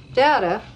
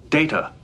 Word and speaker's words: Data: Data, look at this. Data. What? My name. It is pronounced Data. Oh? You called me Data. What's the difference? One is my name. The other is not.